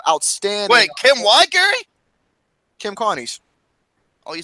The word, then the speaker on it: Kim Carnes: Kim Carnes.